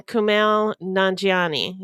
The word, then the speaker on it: Kumail Nanjiani: it's an eight episode True Crime docudrama starring Kumail nanjiani is that how it's pronounced yes yes yummy he's a yummy man